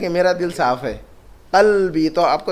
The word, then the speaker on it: قلب: قلبی، تو آپ کو تلفظ صحیح کرنا ہوگا.